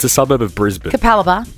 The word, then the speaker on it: Capalaba: say that suburb it's a suburb of Brisbane capalaba capalaba that is the most Queens land name of